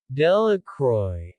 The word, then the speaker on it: Delacroix: harry jones and dicky delacroix the villagers pronounced this name delecroy eventually made a great